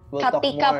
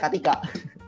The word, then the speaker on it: Catika: Katika, Pak. Katika, sorry ya. Tulisannya Catika kalau kalian mau lihat di Instagram. Itu maksud saya Sandra. Sengaja nih salahnya. Oke. Supaya mereka bisa search CATIK. Tapi bacanya Katika.